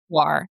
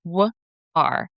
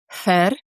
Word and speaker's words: Hvar: I think for foreigners the best way to pronounce it is Hvar, like wh ar. The Croatian pronunciation is Hvar.